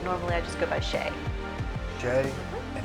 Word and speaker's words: Shay: but normally I just go by Shay. Shay? And how do you pronounce your last name?